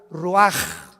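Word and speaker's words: רוח: y exhaló Isaac el Roach así como suena se pronuncia la c en hebreo como J raj se les só y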